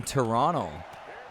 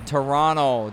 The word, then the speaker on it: Toronto: And the fans in Toronto, don't pronounce the second T.